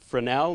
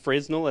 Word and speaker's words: Fresnel: It's actually pronounced Frenel, not Fresnal as I originally thought. S is silent.